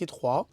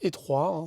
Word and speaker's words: Hetroy: encore bien sûr alors je m'appelle Etro donc ça se prononce Etro c'est un nom français du Nord de la France on peut dire hroy si vous trouvez ça plus cool en en anglais